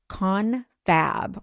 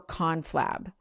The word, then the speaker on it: confab: It can be pronounced confab or conflab.